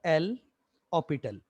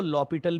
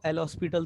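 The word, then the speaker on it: L'Hôpital: ऑपिटल, ऑपिटल rule, ऐसे इसको पढ़ा जाता है। कुछ लोग इसको लॉपिटल भी पढ़ते हैं, लॉपिटल, और अगर सिंपली स्पेलिंग से जाए तो इसको एल हॉस्पिटल तो पढ़ ही सकते हैं, है ना।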